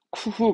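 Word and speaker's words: 工夫: 그래서 스를 붙여가지고 발음은 쿠후 갑니다.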